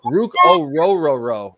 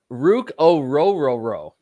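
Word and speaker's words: Orhorhoro: Rook yes I love Rook I love R Rook o Roo is how you pronounce it apparently is that it how is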